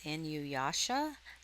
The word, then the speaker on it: Inuyasha: So there you can see, I guess it's pronounced Inuyasha, Anime Complete Series 1 through 6 Blu-ray.